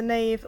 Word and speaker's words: knave: Somewhere in a church is a knave, spelt without the K. But then a villainous character is a knave with a K, and that is the answer.